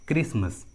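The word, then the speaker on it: Christmas: कुछ common English words में T silent होता है, जैसे क्रिसमस, क्रिसमस, listen, often, whistle.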